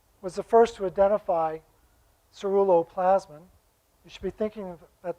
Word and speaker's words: ceruloplasmin: famous swedish physiologist was the first to identify cerullo plasman you should be thinking at that word because you're not going to get out of here until you say it right ceruloplasmin and and then seven years later he wrote